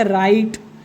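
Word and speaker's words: right: हो जाएगा फाइट, हो जाएगा नाइट, हो जाएगा राइट, हो जाएगा लाइट, हो जाएगा माइट, और ये हो जाएगा टाइट। GH को हमेशा साइलेंट रखेंगे और आखिरी वाला पढ़ेंगे।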